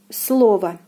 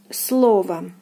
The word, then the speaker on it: слово: Here the stress falls on the first O, and it is pronounced as слово, слово, слово.